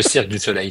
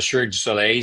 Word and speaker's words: Cirque du Soleil: Le Cirque du Soleil, c'est-à-dire que c'est très bien prononcé.